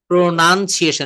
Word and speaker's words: pronunciation: যেমন যার যা প্রয়োজন আরো এন, প্রোনাউন্সিয়েশন, এটা মনে রাখবেন।